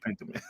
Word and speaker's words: Pentiment: I like the way you say pentiment.